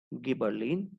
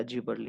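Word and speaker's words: gibberellin: तो जैसे कि first hormone is auxin, second is गिबरलिन या जिबरलिन, ever you want to pronounce.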